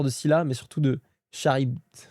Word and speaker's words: Charybde: D'ailleurs, Poséidon n'a pas peur de Scylla, mais surtout de Charybde. Ah, Charybde. Ah, c'est ça la prononciation.